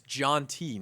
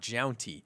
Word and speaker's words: Jountti: were saying it wrong it's jonty not JY thanks bud yeah we